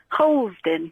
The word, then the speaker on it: Harlesden: Well, because I pronounced it correctly? No, just weirdly. What? Harlesden? Harlesden.